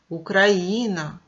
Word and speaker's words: Україна: запис тобто фонетичну транскрипцію ставимо наголос Україна наголос падає на і рахуємо кількість букв та